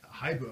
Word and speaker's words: hibu: Whereas like Haibu, I mean, people would mispronounce it. People would Hibu? call in and be like, "Is this Hibu?